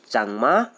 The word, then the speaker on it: चकमा: तो चकमा लोगों का जो प्रोनाउंसिएशन है वो लोग आज भी स्वयं को चांगमा बोलते हैं।